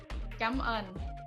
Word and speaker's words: cảm ơn: So how you say thank you in Vietnamese is cảm ơn. Gam an? Cảm ơn. Like you have to pronounce it like cảm Gam?